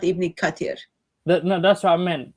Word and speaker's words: Ibn Kathir: says Ibn Kathir. It doesn't say Ibn Kafir. I thought Ibn Kafir was kind of drink. There is drink called kafir. So we were looking for Ibn Kafir, not Ibn Kathir.